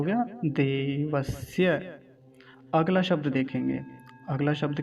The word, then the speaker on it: देवस्य: अगला शब्द, देवस्य, देवस्य।